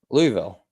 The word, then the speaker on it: Louisville: Louisville. No, you have to say Louisville, like an O.